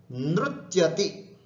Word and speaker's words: नृत्यति: नृत्यति, dance करना, है ना, नृत्यति, नृत्यति शुद्ध उच्चारण नृत्यति, है ना, री का उच्चारण हल्का सा, नृत्यति, नृत्यति।